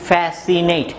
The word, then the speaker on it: fascinate: মনে রাখবে, একই সাউন্ডযুক্ত লেটার যদি পাশাপাশি থাকে, দুটিকে একটি হিসেবে উচ্চারণ করতে হবে, ঠিক আছে?